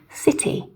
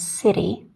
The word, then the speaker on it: city: For example, city, little, this kind of thing. And again, an American would pronounce these more as city or little, right? With the more of the D sound, okay?